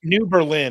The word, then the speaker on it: New Berlin: some of the closest New Berlin is where she New Berlin yeah so she's in New Berlin the the the accent is on a different syllable it's Berlin I don't know if